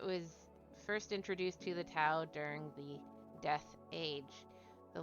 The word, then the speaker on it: Tau: You know, it says pronunciation is Toe, but that sounds weird. So I'm going to call them Tau.